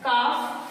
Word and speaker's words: calf: Right, अब example क्या है, CALF, काफ, एल साइलेंट होता है, काफ.